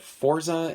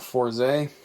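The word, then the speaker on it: Fourze: I don't know why he called it Forza and not Forze, because that's just how it's spelled, and even the Japanese stuff says it, so I don't know.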